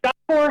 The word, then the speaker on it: Job Corps: And Job Corps has an S at the end, so it's JOBCORPS.gov. Yeah, it's silent when you say it, but it's not silent when you spell it.